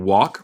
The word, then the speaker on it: walk: La L en walk se pronuncia no. En walk, Flores, la palabra walk, caminar, el L es muda.